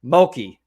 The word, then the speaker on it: Mulkey: Mulkey. I look at it and I'm like, is that like murky, but with an L?